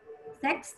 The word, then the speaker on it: sex: In some words زي ما احنا شايفين كلمة sex sex has three letters. هي sex فيها ثلاث حروف فقط. ثلاث حروف. How many sounds? Four sounds. والناس بتستغرب ليه الحرف الساء الرابع لأن ال X اتنطقت كس. K and S.